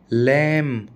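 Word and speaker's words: lamb: लैम, बी आप ऐसे याद रख लो भाई, डेट, क्लाइम, आप ऐसे याद रख लो, एम बी आर बी, एम बी आर बी में बी हमेशा साइलेंट रहेगा।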